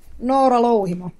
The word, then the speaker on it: Noora Louhimo: With us today, Noora Louhimo. I probably just butchered that. That was very American accent. Noora Louhimo of Battle Beast. How do you pronounce your name? Noora Louhimo.